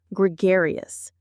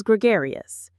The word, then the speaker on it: gregarious: type of person is gregarious. Let's look at the pronunciation. It has 4 syllables: gr, gay, us. The stress is on the second syllable, gare. It sounds like the word air, gr, gare, us.